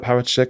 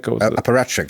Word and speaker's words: apparatchik: How do you say that word? Parachik? Apparatchik. Apparatchik.